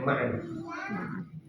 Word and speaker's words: Ma'an: Coba kita lihat, ada orang yang ngajak debat Imam Malik, Ma'an bin Isa, bacanya Ma'an.